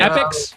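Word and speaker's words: Epix: documentary coming out on apex uh or is that how you pronounce it Apex Channel you got it epics yeah yeah epics uh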